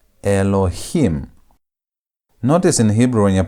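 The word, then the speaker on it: אלהים: So you have a o e. A o e. Now the consonant on top is silent. The alf is silent. Then you have lamemed which is l. Then you have he which is h. Then you have me. So how do you pronounce this? You have Elohheim. Elohim.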